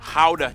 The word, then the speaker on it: Gouda: And the pride and joy of the nation, Gouda cheese. Yep. That's how you pronounce it, guys.